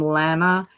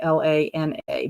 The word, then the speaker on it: Lana: usually graad gravitate to it's just like the name Lana and Lana it's spelled the same way l a n a but I've had a student that was a Lana and then I had